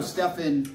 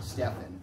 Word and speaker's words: Steffin: So Steffin represents the creative me. All right, yes. Steffin. That was released. Yes. Okay, all right. Yeah. From a Russian wife who pronounced Stephen with the PH, Steffin.